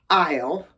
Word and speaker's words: isle: Now, I-S-L-E, aisle, told you they're homophones, is another word for island, which is also a hard word to pronounce.